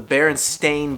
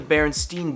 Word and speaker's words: Berenstain: everyone is freaking out because it's actually not pronounced the way that we all thought it was a classic book called the berenstain bears now if I'm saying that it sounds